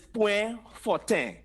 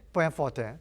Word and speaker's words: Point Fortin: Point forte. Where? That one sounds pretty straightforward. When you talk about like the kind of the French version, the point forte. Yeah, that's the French and Patois pronunciation.